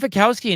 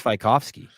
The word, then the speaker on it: Fikowski: When he was on this show, he said he's, his name was Fikowski. Fikowski. He said the correct pronunciation was I just Fikowski.